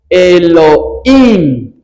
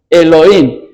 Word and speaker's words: Elohim: el nombre de Dios que se pronuncia Elohim." Elohim. Y cuando los cuando se escribe en hebreo, el plural siempre termina en im.